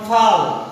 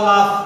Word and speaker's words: লাফ: অথবা এরকম অনেক উচ্চারণ আছে, এটা তোমাদের জানা আছে, যেমন ফাল, ফাল রে, ফাল বা লাফ, লাফ রে আমরা উচ্চারণ করি লাফ, আসলে শব্দটা হচ্ছে লাফ, এটারে আমরা বলি ফাল, ফাল লাফ।